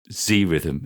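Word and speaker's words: Zrythm: I would definitely recommend Z rhythm is the official pronunciation sorry Joe oh it's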